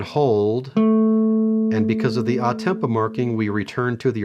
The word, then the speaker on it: a tempo: a new marking toward the end there's an odd Tempo marking that's how you pronounce it above the last line the first measure the last line ah Tempo simply means to return to the original Tempo